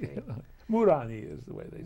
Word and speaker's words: Muranyi: In Hungary, it's a very, I wouldn't say it's a common name, but everybody pronounces it correctly. Okay. You know? Muranyi is the way they say it. Muranyi.